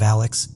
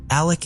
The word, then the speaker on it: Alec: covering it appears that he pronounces his name as Alec instead of Alex but I wasn't really